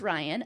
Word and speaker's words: Riane: Hi, my name is Ryan. Um, it's spelled R I A N E because her parents are funny.